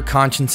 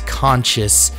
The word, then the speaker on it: Conscience: Remember, Conscience is spelled C-O-N-S-C-I-E-N-C-E, like conscience. You wouldn't believe how many people think that it's conscious.